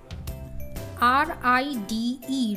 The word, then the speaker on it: ride: here we will learn add ing to the words r-i-d-e ride here the letter e is silent so when we will